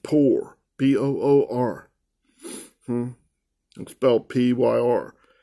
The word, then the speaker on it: pyr: inspire or poor mean p-yr looks like pie because they they're not even they get the word I think pyromaniac from that but it's pronounced poor p-o-o-r expelled p-y-r it's